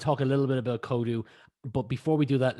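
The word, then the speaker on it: Códú: Well, that aside, work-wise, you are the founder of, and I hope I pronounced this right, Kodu. Yes, Kodu, it's Irish for coding.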